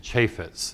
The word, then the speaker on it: Chaffetz: first in the preamble his name is jason Chaffetz that's the way he pronounces it he is from Utah he did